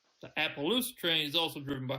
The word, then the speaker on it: Appaloosa: If you're gonna say it right. Appaloosa. The Appaloosa train is also driven by horses.